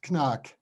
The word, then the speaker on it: Knaack: So yeah, we are pronouncing in the German language, we are pronouncing the K before the N. So the right pronunciation is Knaack.